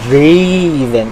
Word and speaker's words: Draven: Ay, mali pala yung pronunciation. Number 18, Draven. Yan, so si Draven. Kasi ganun yung pronunciation ng gusto niya ay Draven.